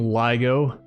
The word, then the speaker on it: LIGO: So I'm calling this game LIGO because uh that is what the laser interferometer gravitational wave observatory is pronounced, which is what I did research on when I was in grad school. Um Joe pronounces it LIGO. I don't know if there's an official pronunciation.